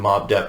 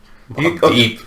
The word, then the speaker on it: Mobb Deep: Well, I mean, you mentioned Mobb Depp and 50 Cent there. Mobb Deep. Mobb Deep. In my mind, it's spelled D-E-P-P.